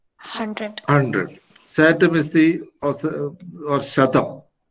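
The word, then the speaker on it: शतम्: Satam is the or Shatam, as it is pronounced in Sanskrit. Okay, Shatam.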